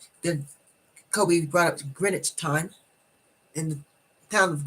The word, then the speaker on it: Greenwich: even the town um it's the way you see it is not how it's pronounced oh that's true it's spelled g-r-e-e-n-w-i-c-h okay you pronounce it